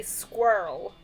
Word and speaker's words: squirrel: So, you guys say squirrel like it's one syllable. Yes. Yes. This is squirrel. Squirrel. Two syllables.